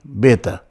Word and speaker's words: beta: So in Greek, they don't say V. They always pronounce the B beta, like B. No V, no vita.